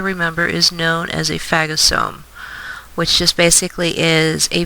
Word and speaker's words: phagosome: The structure that's created by the white blood cell or the macrophage eating the bacteria, remember, is known as a phagosome, which just basically is a vacuole that digests from eating.